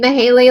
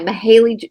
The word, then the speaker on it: Mayhayley: mayh like with yeah it's spelled m a h a l y mahy mahy Lancaster Miss Maley so um anyway so